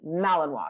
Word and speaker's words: Malinois: in malinoa which is spelled malano but it's pronounced malinoa she comes from Belgium and she is she